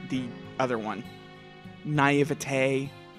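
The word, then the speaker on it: naïveté: I know how to pronounce naive, but not the other one. Naivete. Not naivety?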